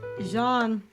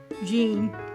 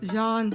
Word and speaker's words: Jean: In French, the name is pronounced Jean, not like the English name Jean. It is a single syllable sound starting with a soft z, as in pleasure, followed by a sound and a clear N.